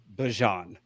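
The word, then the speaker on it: Bijan: him down and said, "Please tell us the correct pronunciation of your name." And he goes, "Bjon." Okay. So, it's Bjon Robinson. Okay. Well, I'm still gonna say Bjan.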